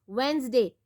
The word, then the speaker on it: Wednesday: Wednesday, D is silent.